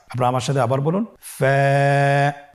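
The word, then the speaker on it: فاء: ফা কফ কাফ লাম মিম নুন ওয়াও হা হামজা ইয়া। ফা হরফটি আপনারা স্ক্রিনে দেখতে পাচ্ছেন। ফা হরফটি উচ্চারণের ক্ষেত্রে বারিক হবে এবং এক আলিফ টেনে পড়তে হবে।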